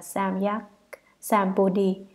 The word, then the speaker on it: Samyak Sambodhi: Chữ Tam Miệu Tam Bồ Đề, nguyên âm Ấn Độ, đọc là Samyak Sambodhi, dịch ra chữ Hán là chính đẳng chánh giác, nghĩa là giác ngộ bình đẳng chân chính hoàn toàn.